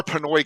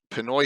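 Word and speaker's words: Penoi: all right dark tower pinoy is asian it's p-e-n-o-i though yeah it's p-e-n-o-i like pen wah way we're saying it wrong so we're not sure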